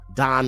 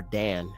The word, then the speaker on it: Dan: Don or Dan, however you want to say it.